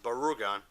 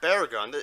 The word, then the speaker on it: Barugon: this film was Rita this film is titled Gamera Bros of burrogone not Barragan lapier seem to mispronounce it films titled as gamma Roseboro gun not Barragan and then this film